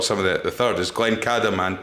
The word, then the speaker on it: Glencadam: you've also brought some of the third, is Glencadam and Tomintoul. Indeed, yeah, well done.